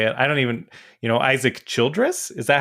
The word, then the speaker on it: Isaac Childress: I can't pronounce words today. I would never know how to say it. I don't even, Isaac Childress.